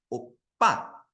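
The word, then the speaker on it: 오빠: Ya, buat Yorobun ini bacanya bukan opa ya. Kalau opa mungkin itu opah-opah yang ada di Upin Ipin mungkin ya. Ini bacanya ada double P ya. Jadi bacanya opa. Ada penekatan di P-nya. Opa gitu ya.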